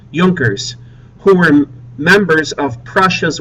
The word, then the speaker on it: Junkers: Notice how it's spelled. J U N K E R S. Joners, who were members of Prussia's wealthy landowning class.